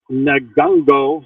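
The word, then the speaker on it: Ngungo: Now to Nagungo. The N is silent. G-U-N-G-O.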